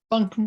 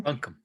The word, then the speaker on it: Buncombe: I know I'm pronouncing it right. Buncombe. Buncombe.